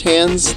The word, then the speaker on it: Hands: I think it's pronounced Hands. At least he pronounces it Hands in one of his songs.